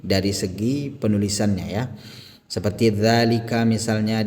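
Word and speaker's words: ذٰلِكَ: Seperti dzalika misalnya di sini ditandai dengan harokat fathah panjang yang kecil ini ya, yang saya lingkari ini. Maka ini dibaca panjang dua harokat.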